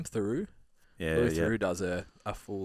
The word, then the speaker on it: Theroux: room one of the louis how do you pronounce his last name theroux yeah who does a full like hour on